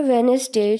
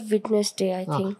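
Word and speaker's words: Wednesday: word ऊंचा बोलिए सर वेनसडे न विटनेस डे वेनसडे वेनसडे और आखरी जो लय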